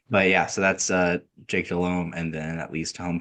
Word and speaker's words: Delhomme: I think David's taken a kind of a liberty because I believe it's technically pronounced Jake Delhomme.